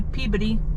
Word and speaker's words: Peabody: We're entering the town of Peabody, or as they say here apparently, Peabody.